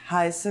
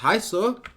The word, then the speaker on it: heiße: Hallo, ich heiße Laura.